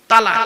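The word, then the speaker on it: طلاق: শব্দটা তালাক বলবেন না, শব্দটা তালাক নয়। এইটাই তো ভুল হয় বাবা। এই জন্য আমি বলেছি বাবা, আলেমের ওয়াজ শুনবেন। চলো, শব্দটা তালাক নয়, শব্দটা হলো তলাক। কি বললাম? তলাক।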